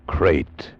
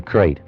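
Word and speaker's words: krait: a man trapped in his bed by a crate the most deadly poisonous snake in the world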